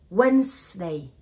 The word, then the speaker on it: Wednesday: Because the word, the letter D and E after N, D and E here are silent. So we say Wednesday.